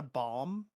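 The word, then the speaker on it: balm: It's a bomb. But a bomb as in B A L M.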